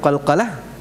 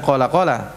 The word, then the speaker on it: Qalqalah: ingat sifat Qalqalah Apa itu Qalqalah bukan qolqolah apalagi coca-cola sifatnya namanya apa Jadi